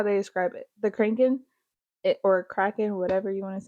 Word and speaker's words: Kraken: But like mermaids, the cranking, vampires, the what? The Kraken, like the big octopus squid thingy. Kraken.